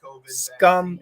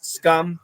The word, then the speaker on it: scum: and scam huge difference scum is a short you don't stretch it scum and scam is a